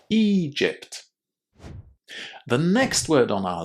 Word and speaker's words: Egypt: It's a very common difficulty, but all you need to do is to remember to say a long e at the beginning of this word. Egypt.